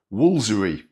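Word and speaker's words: Woolfardisworthy: Woolsery. 16 letters and we only pronounce seven of them.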